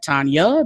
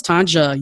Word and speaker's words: Tonja: Some people may be like Tanya, because especially if your culture, the J is silent. I totally understand that. But I'm like, no, it's Tonja. Use the J. It's a hard J.